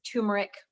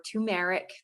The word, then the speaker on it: turmeric: do very often is we use turmeric or tumeric people will pronounce it in different ways this has probably the